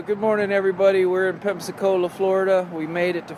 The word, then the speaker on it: Pensacola: everybody we are in pensacola pensacola florida oops apollo it's not called Pepsi Cola I'm trying to learn